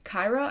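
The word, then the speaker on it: Kira: um the killer as kyra i believe is how you say it um k-i-r-a and so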